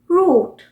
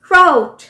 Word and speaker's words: route: सो हम बोलते हैं रूट, ROUTE, रूट। और जबकि अमेरिकन इसी वर्ड को कैसे प्रोनाउंस करेंगे? राउट, राउट।